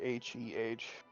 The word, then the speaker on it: Hedrun: It's pronounced like HEH/DRUN. Like it was a weird draw.